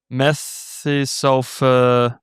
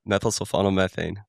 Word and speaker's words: methylsulfonylmethane: Methysulfa Methylsulfonylmethane.